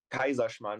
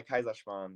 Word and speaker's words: Kaiserschmarrn: Kaiserschmarrn. It's like Kaiser. Kaiser. Yeah, Kaiserschmarrn. Yeah, Kaiserschmarrn. Okay.